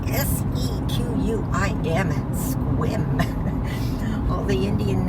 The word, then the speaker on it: Sequim: That is spelled S-E-Q-U-I-M, Sequim.